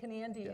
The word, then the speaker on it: Kenandy: By the way, Kenandy is the pronunciation of the name, and Ken and Andy are my sons, so that's how the company got formed.